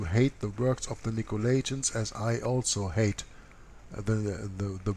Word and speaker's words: Nicolaitans: Now, this is a little bit different writing here, but Nicolaitans is the way that you pronounce this.